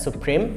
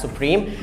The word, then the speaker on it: SUPRIM: And it's not pronounced as Supreme, it's pronounced as Supreme.